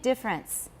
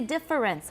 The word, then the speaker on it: difference: Everyone, phonemic difference. Right. And I don't say difference, I say difference. How many syllables? 2.